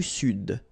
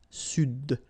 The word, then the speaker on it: Sud: L'Amérique du Sud. Here you should pronounce the D. Sud.